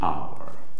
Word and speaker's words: hour: is silent and its pronunciation is our its pronunciation is a so this is the vowel sound so an hour like honest man and the first letter is